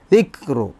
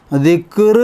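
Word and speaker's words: ذِكْرُ: ഓതേണ്ട ഭാഗമാണത് അടുത്ത ആയത്തിൽ ദിക്റു ദിക്റു ദിക്ർ എന്ന് പറയരുത് കാഫ് ഒക്കെ ആണെങ്കിൽ സുക്കൂൻ ആകുമ്പോൾ അഖ് എന്ന് പറയും അതുപോലെ കാഫിന് ആ ഉച്ചാരണം ഇല്ല ദിക്റ ദിക്റു ദിക്റു റഹ്മത്തിറ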